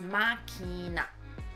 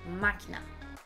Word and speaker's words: Machina: It's machina. Machina. Kinda sounds Japanese if I say it quick.